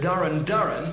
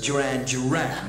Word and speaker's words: Duran Duran: I said it but I mispronounce the name I said Darin Darin and planet Earth number 26 when of course it should be as everybody knows Duran Duran when you're doing this